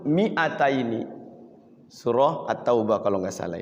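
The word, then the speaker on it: مِائَتَيْنِ: Mi-nya itu tulisannya ada madnya, ada huruf alifnya. Tapi dia bacanya tidak panjang.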